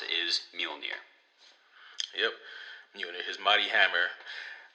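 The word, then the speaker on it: Mjölnir: around with this big hammer which is called mule near do not get confused by the spelling that is how he pronounced is mule near yep unit his mighty hammer and you know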